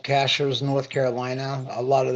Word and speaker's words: Cashiers: that move up there and they call it cashiers but it's called It's pronounced Cashers and uh it's uh whenever I was growing